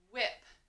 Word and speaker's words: whip: blended together next word whip your turn h at the beginning like the whale card so wh so it's almost as if that h is silent it's like it's not there and i says excellent